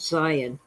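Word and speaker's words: Sion: and to scion s-i-o-n we spell it with a z a zed but okay it's zion is this treasure and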